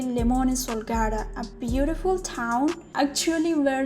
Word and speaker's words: Limone sul Garda: Well, the time I visited, I pronounced this town Limone del Garda or Limone di Garda, but it is actually Limone Sul Garda, a beautiful town actually where lemons blooms.